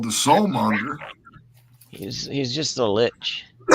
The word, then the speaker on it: lich: He's just a lich. Is that how you pronounce it? Yeah, lich. He is a lich.